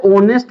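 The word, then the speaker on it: honest: एच तो कसोनेंट है। लेकिन इसको उच्चारण हिंदी उच्चारण हम ध्यान देंगे। हिंदी उच्चारण क्या है? वोवेल है।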